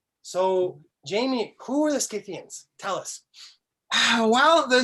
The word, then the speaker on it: Scythian: who have corrected me i've said cythian for a long time scythian apparently is what the way academics like to pronounce it in this part of the world scythians are a good